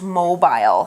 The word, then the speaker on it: mobile: interesting note about mobile mobile can also be pronounced mobile it depends where you're from but both pronunciate baath pronunciations are okay so if you pronounce